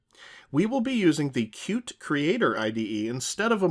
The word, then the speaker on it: Qt: the context of cute notice i'm pronouncing it cute not q t a lot of developers